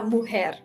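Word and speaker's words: mujer: La muhare. J. Oh, cuz like jalapeno j is her. La muer.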